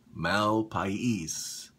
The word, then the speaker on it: Malpais: And the shave soap I'm using today is called Malpais, and that's how you pronounce it, Malpais.